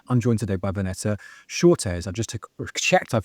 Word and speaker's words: Schotes: I'm joined today by Vanessa Shortes. I just checked I've pronounced her name correctly who I thank goodness we checked in advance.